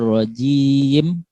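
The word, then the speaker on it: الرَّجِيم: A'udzu billahi minasyaitonir rajim. Pakai huruf jim. Bukan pakai huruf zim, ya.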